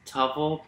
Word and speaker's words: Touvell: your last name um it's tuffle like shovel but what a t